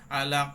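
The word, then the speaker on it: عَلَق: মাখরাজে নিয়ে আসতে হবে আইন উচ্চারণের সময় আপনার সেই জিহবার গলার মধ্যখানে এনে গলাটা চেপে দিতে হবে লাম আবার জিহবার আগায় মানে আপনার হাফ ফালসানে চলে আসতে হবে ওখান থেকে উপরে প্লেট লাগিয়ে দিতে হবে আলাক আবার কফ উচ্চারণ করার সময় আপনার ওই জিহবার গোড়াটা ওই যে আপনার আলজিবহ্বায় লাগিয়ে ওখানে প্রতিধ্বনি করতে হবে উপরের দিকে জিহবা তুলে এই বিষয়ে তো খেয়াল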